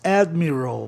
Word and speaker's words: admiral: Almirante em inglês, admiral. A palavra tem que ser propaloxítono em função de terminar em vogal consoante. Admiral.